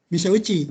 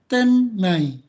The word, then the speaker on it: 店内: Dibacanya itu tennai. Tennai ya. Mise uchi itu dibaca kalau satu-satu, tapi kalau dibaca bersama itu tennai.